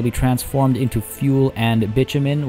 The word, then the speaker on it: bitumen: It'll be transformed into fuel and bitumen, which, yes, that is how you pronounce it. I know, B-I-T. You would expect it to be bitumen. No, it is bitumen.